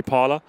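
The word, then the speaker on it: Parlour: Ray Parler? Yeah, 100%. Man. He's a howler. His name rhymes with howler, Parler.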